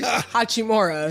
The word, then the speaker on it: Hachimura: Hachimura, I said it right today? Hachimura.